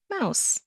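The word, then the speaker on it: Maus: But I wouldn't have guessed it well had you already studied German pronunciation, you would have even known that m au is pronounced mouse.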